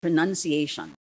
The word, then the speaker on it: pronunciation: correctly first we have pronunciation pronunciation not pronunciation okay it is pronunciation next cleanliness cleanliness not